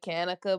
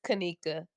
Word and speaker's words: Kena: pronouncing your name terribly so people when they when they mispronounce it they say kanaka but it's Kena Kena okay awesome no great